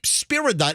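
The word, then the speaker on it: Spyridon: The the first name is spelled S P Y R I D O N. The guy's name is Spiridon.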